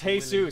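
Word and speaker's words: Jesús: It's pronounced Jesus, Willy. And he's our maintenance man.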